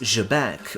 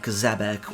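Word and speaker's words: Xebec: As a reminder, in Japanese, his name is written as Jeku, meaning the pronunciation is Jabek rather than Zabbec or any other.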